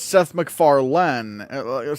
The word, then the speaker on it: MacFarlane: Like, it's spelled like like, you have it almost, but instead of a D, it should be an E. Also, it should be Mac, like M-A-C, Farlane.